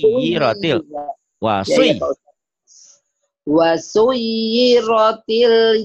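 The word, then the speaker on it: وَسُيِّرَتِ: Iya, bacanya bukan wasirat. Kan ada tasnya nyamber. Wasui. Wasuyiratil.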